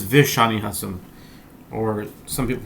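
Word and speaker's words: ושאני התם: Actually, in our in our amud it says v'shani chasam. Or some people pronounce it shani chatan.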